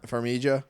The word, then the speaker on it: Farmiga: So we got Vera, and I always pronounce her last name Farmiga. wrong. Farmiga. Farmiga. I mean, you put a little English on it, but that's cool.